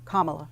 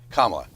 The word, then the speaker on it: Kamala: Kamala. Kamala. It's pronounced like 18 different ways.